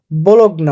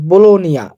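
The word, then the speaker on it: Bologna: আপনারা একটু খেয়াল করে ব্লগ না অর্থাৎ বলোনিয়া বলোনিয়া যেটা বলি আমরা বাংলায় কিন্তু উচ্চারণ হবে ব্লগনা এটা দেখেন পিরিবাত 650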